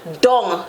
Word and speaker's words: dung: Down in English, dung in Patwa.